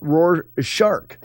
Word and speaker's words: Rorschach: Rorschach. Got it. Also sometimes said Rorschach. Say it however you like.